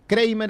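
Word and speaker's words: Kreimer: Kramer es filósofa, Kramer así como suena, K-R-E-I-M-E-R.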